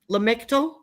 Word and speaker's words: Lamictal: Lamictal?